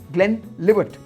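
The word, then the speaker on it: Glenlivet: Next one जो है 13th, इसमें हम बहुत गलती करते हैं, लिवेट बोलते हैं, इट्स नॉट लिवेट, इट लिवट, ग्लेन लिवट, ग्लेन लिवट।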